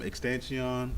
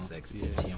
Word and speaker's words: XXXTentacion: From Extension, I know I probably pronounced his name wrong. XXXTentacion.